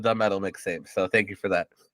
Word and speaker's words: the Metal Mixtape: Nobody ever pronounces it because everybody always calls it Metal Mixtape, and you're one of the only people that call it the Metal Mixtape.